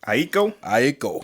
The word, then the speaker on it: Aiko: Summer 2020, Janae Aiko, or is that how you say it? Aiko.